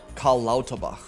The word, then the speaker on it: Karl Lauterbach: Karl Lauterbach.